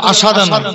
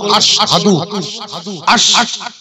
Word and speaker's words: আশহাদু: সাক্ষী সাক্ষী দিচ্ছে কে তাহলে আমরা উচ্চারণটা কি করব আশাদান আশাদু বলবেন না কি বলবো আশহাদু ওয়াহিদ মুতাকাল্লাম আমি সাক্ষী